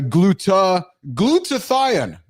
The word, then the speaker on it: glutathione: there is a, excuse me, so it's a glutathione. Thanks, baby. I appreciate you helping me pronounce that correctly here.